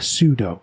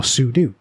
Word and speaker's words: sudo: linux the equivalent is a pseudo or sudo depending on how you want to pronounce it it stands for substitute